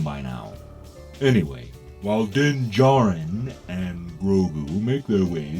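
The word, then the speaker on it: Din Djarin: stop saying his name din dejarin the D is silent it's like the real way you spell Django okay they say it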